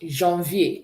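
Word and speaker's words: janvier: So January is pronounced Jeanvie. Can we say that? Jev.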